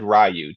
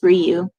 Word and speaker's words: Ryu: So, first we have, how do we pronounce that? Andrew Cooji. Yep. As I always said Rayu. Did you say Rayu or Ryu? It's Ryu.